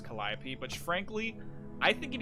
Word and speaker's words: Calliope: spelled calio but it's in the greek it's pronounced as calliope but frankly i think